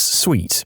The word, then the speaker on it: suite: sorry I wasn't clear it's sweet you know like a suite of officers she then sigh wearily